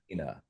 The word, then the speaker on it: Fernandina: Fernandina. Fernandina.